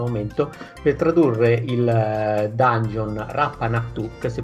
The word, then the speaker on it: Rappan Athuk: kickstarter in questo momento per tradurre il dungeon rapanà to xvi pronuncia correttamente così ciao a tutti si pronuncia